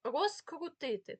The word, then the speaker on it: розкрутити: префікса роз без через хоча у вимові Ми чуємо оглушення цих літер тому розкрутити Так ви бачите слово на на слайді розкрутити ми не чуємо такого з як в слові наприклад в